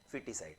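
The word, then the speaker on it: foeticide: Foetus, FOETUS, फिटिसाइड में FOE होता है, ये थोड़ा सा यहाँ पे कंफ्यूजन होता है, फिटिसाइड, और प्रोनाउंसिएशन इसका क्या होता है? फिटिसाइड।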